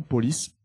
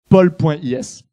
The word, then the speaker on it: Pol.is: beaucoup utilisée à Taïwan, ça s'appelle mauvais nom, Police. C'est pour ça qu'on va le prononcer pol.is, voilà.